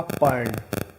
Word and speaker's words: पर्ण: ये रेफ लगा देंगे, तो इसका उच्चारण होगा वर्ण, इसका होगा पर्ण।